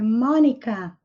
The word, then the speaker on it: Monica: Mônica, que em inglês a Mônica não tem acento, é Mônica. Mônica. O Cebolinha é Jimmy Five. Jimmy Five. O Cascão, Smudge. Smudge. E a Magali, em inglês, se chama Maggie. Maggie, Smudge, Mônica, Jimmy Five.